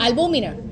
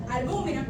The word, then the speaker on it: albúmina: Entonces, cabe destacar que algo pasa con el huevo, con la albumina que está en Albúmina. Albúmina. Ajá, con acento en la U.